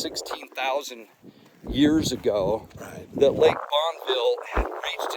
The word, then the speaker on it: Bonneville: Now look, so I studied this a little bit, and Bonneville, it's actually pronounced Bonneville, not Bonneville.